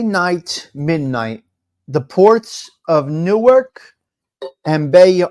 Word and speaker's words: Newark: midnight the ports of Newark and Bay it is Newark it's not norc it's Newark okay it's not norc it's